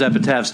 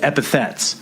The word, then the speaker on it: epithets: I always thought it was epitaphs too, but recently Sam told me that it's not epitaphs, it's epithets.